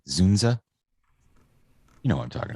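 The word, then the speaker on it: Dzundza: it uh george zunda how do you say his name is the dunes d-z-u-n-d-z-a zunza you know what i'm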